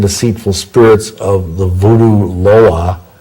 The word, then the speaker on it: Loa: And I may have mentioned this before, but pray that the lying and deceitful spirits of the voodoo Loa, it's spelled L-O-A, Loa, would be bound from influencing that person and from giving that person power.